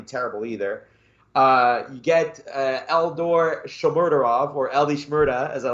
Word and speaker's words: Shomurodov: You get Eldor Shomurodov, or Eli Shmurda, as I like to call him. Eli Shmurda. Oh, yeah, we're going to have to learn how to pronounce the name. Shomurodov.